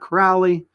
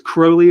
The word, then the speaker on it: Crowley: know him Alistar Crowley not Crowley he says crowly rhymes with holy that's that's what he